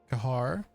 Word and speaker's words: Kahar: Kahar. Yeah, we'll do car, but the H is silent, and then just yeah, I'll just do my last name.